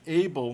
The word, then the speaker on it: able: Contrasta com able, apesar de ter duas consoantes depois do A, você vê que able, né, é pronunciado ditongado, porque na verdade ele não tem consoante geminada, ele tem consoante seguido de ou no final.